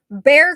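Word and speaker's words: Bexar: I knew I was going to mispronounce something. I always do. Bear County.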